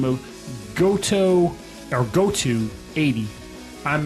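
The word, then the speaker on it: Goto80: who goes by the name of goto or goto 80 I'm mispronouncing it who the heck knows but it's spelled goto 80 oh yeah it's goto 80 sounds like a basic yeah it's a it's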